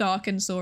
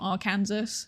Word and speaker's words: Arkansas: I I didn't know until I was like 25 that Arkansas is pronounced Arkansas and not our Kansas.